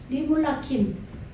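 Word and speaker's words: למלכים: 일, 아사, 행하다, 창조하다, 만들다, 그런 단어인데, 예, 파야스 오탄누 리물라킴, 이거 라메드는 두 개로 발음해줘야 된다 그랬죠? 리물라킴, 예, 멜레크죠?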